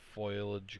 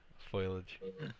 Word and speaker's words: foliage: Not a lot of foliage growing. Yeah, foliage.